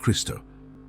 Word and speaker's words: Krishna: In some Indian dialects, such as Bengali, Krishna is pronounced Kristo.